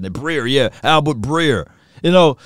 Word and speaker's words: Breer: the Packers according to Albert Brerier. Breer, I think that's how you say it. Breer.